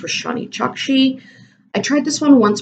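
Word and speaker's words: Roshani Chokshi: So for that, I chose Gilded Wolves by, I think it's pronounced Roshani Chakshi.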